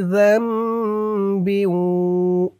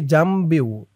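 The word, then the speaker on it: ذَنْبٍ: তু বু, মিং কুল্লি যামবিউ। অনেকেই এই শব্দটুকে উচ্চারণ করে মিং কুল্লি জামবিউ, জামবিউ এরকম করে বলে। এরকম করে বললে জালের উচ্চারণটা শুদ্ধ হবে না, বলতে হবে, খেয়াল করে শুনুন, মিং কুল্লি যামবিউ ওয়া আতুবু, ওয়া আতুবু,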